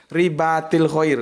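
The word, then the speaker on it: رباط الخيل: tentang riba Dri Bakrie baatil atau ribatul bacanya Ya ribathul khail ya Rich sholli ya itu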